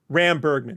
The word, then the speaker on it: Ram Bergman: Ram Bergman. Thank you. I was close. So I'm always good with the syllables.